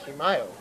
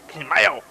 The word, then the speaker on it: Camayo: It was Kimayo. No, it wasn't. It was Camayo.